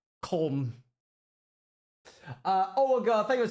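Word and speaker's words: Köln: Apparently, it's the biggest European convention of the year, and it's happening in Germany, in what I would call Cologne, but I believe it's actually pronounced Colm.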